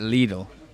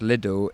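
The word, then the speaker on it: Lidl: they they pronounce it Leal and Leal is a pronation in German and many other countries but in in the UK it's pronounced little in the TV advertising campaigns and otherwise so then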